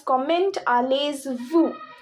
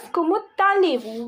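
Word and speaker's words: comment allez-vous: not be pronounced as comment allay vu but it will be pronounc pronounced as kumalu why because in French last consonants are silent so s is silent zed is silent now why tal why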